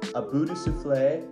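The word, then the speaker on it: À bout de souffle: the film is breathless it's a Buddha souffle is how they say it in French if you guys haven't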